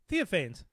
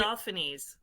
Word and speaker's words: Theophanes: Which I imagine I'm pronouncing that one correctly. Please tell me I am. No. No, you're not. Theophanes? Is that Yep. that? Okay. Theophanes. Theophanes. Oh yes, like classic Greek style.